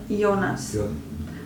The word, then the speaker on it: Jonas: So you pronounce it Yo? Yeah, Jonas.